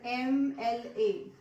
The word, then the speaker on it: MLA: If I have the word MLA, he is the MLA or MLA.